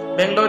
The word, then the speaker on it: ಬೆಂಗಳೂರು: इसका नाम आपने बेंगलुरु भी सुना होगा, क्योंकि कन्नड़ भाषा में इसे बेंगलुरु प्रोनाउंस किया जाता है।